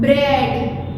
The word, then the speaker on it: bread: Bread, A. Here in this EA here we two kinds of EA sounds we have. A short E sound and long E sound.